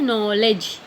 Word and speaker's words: knowledge: नॉलेज मूक वर्ण है, के नहीं, क नॉलेज नहीं कह रहे हम।